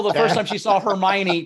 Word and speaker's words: Hermione: Rachel, the first time she saw Hermione, pronounced it Hermone, and we've been making fun of her on the show for 2 years after that.